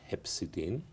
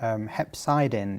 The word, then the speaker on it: hepcidin: deficiency which is called Hep cedine can you elaborate a little bit on hepsidine sure pronunciations differ Hep cidin is the preferred term to the American audience and it was discovered